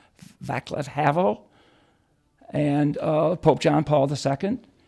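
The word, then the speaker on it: Václav Havel: ronald reagan uh the czechoslovakia leader havel javier pronounced his name vaclav havel and pope john paul ii and a couple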